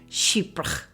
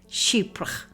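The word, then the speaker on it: Chypre: And if you want to know how to say it, just that imagine the word sheep and then put an accent on it. Sheepra. Sheepra.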